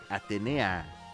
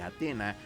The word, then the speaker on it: Atenea: Sí, porque la pronunciación que hemos escuchado todo el tiempo de Atena es una deformación de lo que es Atenea.